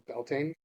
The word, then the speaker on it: Beltane: Just last Beeltena, we uh, I Which is more commonly recognized as Beltane. Bealtaine would be the more traditional and old Irish pronunciation.